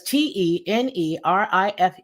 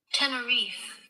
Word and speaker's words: Tenerife: already answered it gets so temperamental what does t-e-n-e-r-i-f-e spell okay let's get the pronunciation you Dingle bat you know this thing